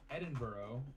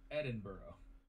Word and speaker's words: Edinburgh: Edinburgh is still one of the most...